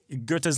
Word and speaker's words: Goethe: I think you're supposed the German OE is supposed to sound like a British R. Right. Yeah, Goethe. Goethe.